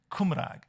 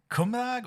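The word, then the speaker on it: Cymraeg: i did the correct is it kumarak or is it komrag it's on the second second syllable so so in welsh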